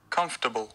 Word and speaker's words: comfortable: ta sẽ có được kết quả như sau: comfortable.